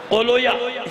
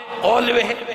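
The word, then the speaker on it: قولویہ: کو بتا دیا کہ بعض اوقات لوگ اس کا تلفظ صحیح نہیں کر پاتے، بابوے کو بابویا پڑھتے ہیں، کیا پڑھتے ہیں؟ بابویا، سیبویا، اولویا، یہ نہیں ہے، بابوے، اولوے، سیبوے۔ صلوات بھیجئے محمد آل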